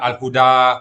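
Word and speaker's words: الهدى: Bacanya al-huda, panjangin ya.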